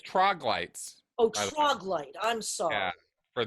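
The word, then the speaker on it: Troglyte: all say yeah yeah by the way it's troglites oh troglite i'm sorry for those of you there who've been hearing troglodyte yeah it's troglite sorry sorry just looking at the wikipedia page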